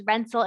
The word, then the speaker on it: Renz: Remember how I said that Z is pronounced like a TS, a T? So really Renz and Rentz would have been pronounced exactly the same in German.